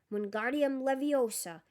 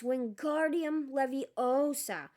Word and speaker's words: Wingardium Leviosa: Wingardium Leviosa, he shouted, waving his long arms like a windmill. You're saying it wrong. Harry heard Hermione snap. It's Wingardium Leviosa, making the gar nice and long.